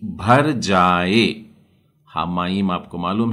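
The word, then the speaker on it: המים: इशरत्सु हामाइम, म का उच्चारण आधा म पूरा म लेना पड़ेगा। हामाइम।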